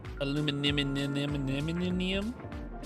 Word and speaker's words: aluminum: The correct way to say aluminum is aluminum.